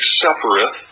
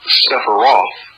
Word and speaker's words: Sephiroth: of initiation relating to the Kabbalistic Sephiroth, or Sephiroth, depending upon how you want to pronounce it.